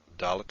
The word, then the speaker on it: dalet: Dalet is pronounced d, and tav is pronounced t, regardless of whether it has a dagesh or not. Some people will pronounce the dalet without the dagesh as the, as in the th in the, and this is